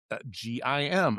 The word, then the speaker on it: Gim: of the Korean team, her surname was gimm and they pronounced it gim. And I went looked into this a little bit and it is a variation of the surname Kim in the Korean culture.